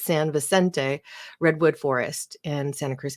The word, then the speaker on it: Vicente: the public with the San picente which apparently I always insist on pronouncing wrong I believe it's San Vicente Redwood forest in Santa